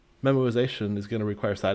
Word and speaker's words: memoization: It's pronounced memoization, not memorization.